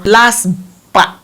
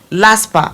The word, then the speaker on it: LASPPPA: All of this you will submit to a particular body we call LASPA. LASPA, I will spell it for you.